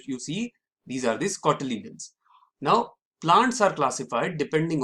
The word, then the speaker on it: cotyledon: This temporary supply of food is in the form of special leaves known as seed leaves or cotyledons. Sorry, it is pronounced as cotyledon.